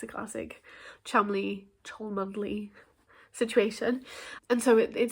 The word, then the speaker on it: Cholmondeley: Maybe it's a classic Cholmondeley Chumley situation.